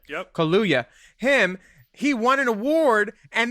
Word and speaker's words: Kaluuya: Kaluuya. Yep. Kaluuya.